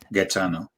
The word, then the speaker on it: Gaetano: isn't their first language your name is g-a-e-t-a-n-o getano yeah and then n-a-r-d-i yeah